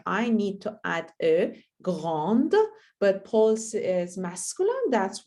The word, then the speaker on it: grand: That's why I don't add any e, and we know that we don't pronounce any consonant at the end of the word. So that's why we say grand.